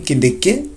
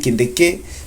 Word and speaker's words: Kindiki: change them by dropping Kindiki, and I hope I'm pronouncing it well. That's how I realized it's pronounced, by dropping Kindiki to go for Rigathi Gachagua.